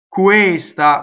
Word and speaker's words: questa: Questa, we already know the U is high. These words, questa, quello, right? Questo, they're all closed E's.